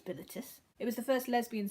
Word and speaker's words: Bilitis: I think it's Bilitis.